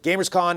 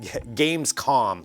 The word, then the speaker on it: Gamescom: what's going on with gamers Kahn and and everything that's happening or gate Gamescom there we go that's a proper way to say Gamescom 2019 we've got all the